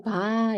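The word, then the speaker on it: ب: 두 번째이 단어는네 이름이 바 예요 바 바네 바고 발음은 이제 우리나라 말의 비읍이라 하면은 미가 되겠죠 미 이것도 발음이 쉬워요네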